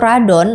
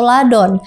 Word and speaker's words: Radon: dikenal dengan nama rodan tapi penyebutan awal dalam bahasa Jepangnya yaitu radon atau ladon karena dalam pelafalan Jepang biasanya huruf r juga bisa disebut dengan l sama seperti Godzilla yang